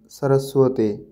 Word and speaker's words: সরস্বতী: হবে আছে এখানে দেখুন অন্তস্থ ব থাকলে সেক্ষেত্রে ও এর মত উচ্চারণ করতে হবে যেমন সোয়াপন সরসুয়াতি কিন্তু উল্লেখ্য এই যে